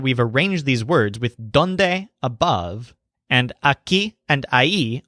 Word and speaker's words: dónde: uses the word donde he says done-day do you want me to look this word done day sounds kind of like dawn day and what it means